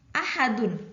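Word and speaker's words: أحد: menjadi Ah aduh gitu tidak ah aduh lucuna tapi bukan Spot ini bacanya ahad ahad begitu baik kemudian matahari Twist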